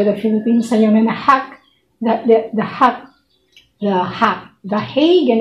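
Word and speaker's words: The Hague: Alaska all over the Philippines yung na-hack the the hack the hack the hag in English sabi Yun yung isang Dutch Filipino.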